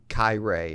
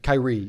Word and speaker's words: Kiray: "Hey, it's Kiray," and I think I said Kiray, or you know what I mean, something Kyrie. Right? Who knows? Yeah, right? yeah. Kyrie Irving. I don't know. And he's like Kiray, like courageous.